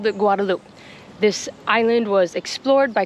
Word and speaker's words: Guadeloupe: would have been pronounced Guadalupe, the Spanish pronunciation. But now that it is an overseas department of France, it is pronounced Guadaloop.